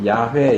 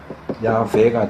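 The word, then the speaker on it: 야웨: 그러니까 이제 순복음이나 요쪽에선 이걸 이제 야회 이렇게 예 읽기도 하고 근데이 이름은이 발음은 틀려요. 왜냐하면 여기서 이렇게 끊어서 읽는 거거든요. 원래는 여기서 끊어야 돼요. 그래서 야, 외 발음으로 하면은 야외가 되는데 이제 이건 좀 복잡하니까 일반적으로 이렇게 읽어요.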